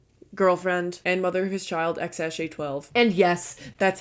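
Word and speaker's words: X Æ A-12: Elon musk's EX girlfriend and mother whose child X sj12 and yes that's how you say it I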